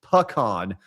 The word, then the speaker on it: pecan: To put my hat into pecan talk, it's pronounced pecan. Pecans are what truck drivers use.